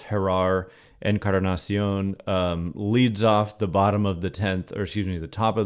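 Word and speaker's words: Jerar Encarnación: And Jerar, proper pronunciation here, I'm sure, is Jerar Encarnacion, leads off the top of the 10th with a booming home run to right center.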